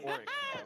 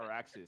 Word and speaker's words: Oryx: It's Oryx. Bro. It's not Araxis. It's Oryx.